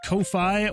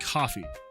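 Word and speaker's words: Ko-fi: Uh is it pronounced Kofi or coffee? Uh it is pronounced coffee.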